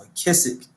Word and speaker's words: McKissick: My name is German, so last name is kind of hard, but it's pronounced McKissick.